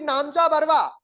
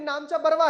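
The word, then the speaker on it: Namcha Barwa: की सबसे पूर्वी चोटी नामचा बरवा अब ये नामचा बरवा है इसे नामचा बारवा भी बोलते हैं के समीप दक्षिण की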